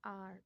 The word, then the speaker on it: hour: Example an apple, an elephant, an umbrella, an hour, HOUR. H is silent तो आ की आवाज़ आ रही है.